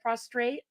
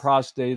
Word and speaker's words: prostrate: better it doesn't Pro I got to say it right prostrate prostrate yeah not prostate or prostitute anything else yeah oh